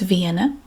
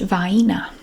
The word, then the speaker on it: Vienna: dialect this word is vienna but in my regional dialect it's pronounced vaina baina sausages i'm familiar